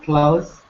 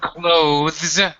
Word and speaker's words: clothes: Clothes. You can either pronounce the voice th, clothes, or go ahead and pronounce it like close the door, which is the way Close. native speakers usually say it.